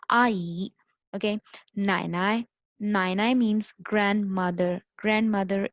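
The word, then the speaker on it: 奶奶: नाई नाई, नाई नाई means grandmother, grandmother is called नाई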